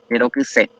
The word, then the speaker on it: ayerokuse: El acento tónico se muda acá y queda al final. Y no vamos a marcarlo gráficamente porque queda al final justamente. Solamente nosotros entendemos que cuando la palabra no lleva tilde, la final será pronunciada con mayor fuerza de voz.